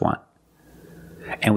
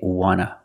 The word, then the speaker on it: want to: So we don't pronounce the T and we say wanna, wanna. I just want to eat. Want to or want to, you can pronounce it wanta or wanna.